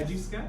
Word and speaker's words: Edgeesketch: Am I even saying it correctly? Yes. Edgy Sketch?